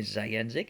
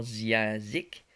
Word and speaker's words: Zayanzik: se prononce bien Zayanzik et non Ziazik.